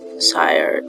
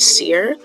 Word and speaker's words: sire: Sorry, I'm just realizing that I've been pronouncing it Seer this entire time. I pronounced it Sire that one time, but I had come across it like 3 other times before then. I pronounced it Seer.